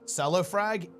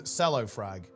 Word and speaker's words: Cellofrag: He the correct way to pronounce Cellofrag is Cellofrag. It's not cello frag.